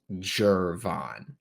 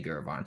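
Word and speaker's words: Gervon: pick also to make it abundantly clear it's pronounced jervon I hate when people say gurban I hate when people mispronounce Florida Gators names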